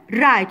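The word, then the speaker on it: write: عنا عنوان الاكسرسايز نمبر 1 رايت. شو قلنا على الرايت؟ الدبليو تكتب ولا تلفظ، بنحط عليها اكس عشان نعرف انه هي لا تلفظ بس بهاي الكلمه هون بكلمه رايت.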